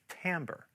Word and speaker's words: timbre: Let's talk about timbre, which is spelled T-I-M-B-R-E, but pronounced "tamber."